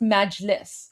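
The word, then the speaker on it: Majlis: how he pronounced it, but it's pronounced Meliss. Okay. So, Meliss, um, Iranian word for parliament.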